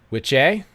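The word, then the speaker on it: wicce: Witche. And then there's witcha, which is down here somewhere. Yeah, witcha. It looks like Wicca, but it's pronounced witcha and witche.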